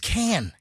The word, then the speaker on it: Cannes: No, it's just can. Cannes The Film S Festival. is silent. Can.